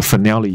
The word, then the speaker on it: finale: 好，那我们讲一下另外一个，补充一下 brass 的片语、这个我很喜欢看一个剧叫绝命律师、就绝命毒师的那个一个 spin off，他的另外一个，他里面有一个很厉害的律师叫 Saul Goodman，那他自己现在有了一个影集这样，而且这个影集比绝命毒师的长度已经还要长了，他在七月中旬以后就要把他的完结、把他这个最后的这个 finale 要把它演出来了、要上 Netflix 了，所以我们讲说这个大结局叫做 finale，就是 final 这个字编出来，只是它发音是 finale，所以顺便分享一下，所以我很迫切的想要看它的 finale，因为这个剧非常好看，我觉得完全不输绝命毒师，我是同一个人做的啦，就他背后的 producer，或者是应该说他的故事的，应该怎么说呢，就是那个最重要的讲故事的人是同一个人。好，Anyway，